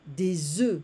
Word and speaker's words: œufs: Un œuf, des œufs. We don't pronounce the F in the plural form for eggs.